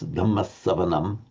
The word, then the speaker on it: Dhammasavanam: Now, back here then to Jeremy's point, when we read Dhammasavanam, we say, if that were Sanskrit, we would very distinctly pronounce the double S, Dhammasavanam.